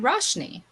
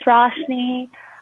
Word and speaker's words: Roshni: How about we go to Roshni? Hi, my name is Roshni. That's the Americanized version. The actual pronunciation is Roshni.